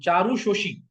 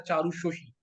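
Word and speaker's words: Charushashi: And Charu Shoshi, है ना? So we are going to pronounce it as Charu Shoshi.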